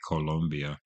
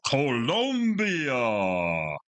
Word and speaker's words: Colombia: going to Columbus Columbia I always will say Colombia which is American saying it the wrong way Columbia but after listening to this album I just want to go Colombia because that's how they say it on the album I love it it's